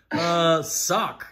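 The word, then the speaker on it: Sawk: Like Hawk, but Sock with an S. Hawk with an S.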